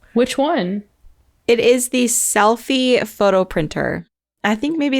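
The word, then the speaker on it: Selphy: my favorite one which one it is the selfie photo printer I think maybe it's by Canon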